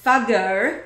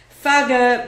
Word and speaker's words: Fugger: as supervised by the fago that's spelled f u g g e r and rhymes with buger which is what what